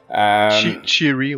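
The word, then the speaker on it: Che'ri: est Cherry, j'imagine, c'est le même qu'on le prononce. Cherry, ouais.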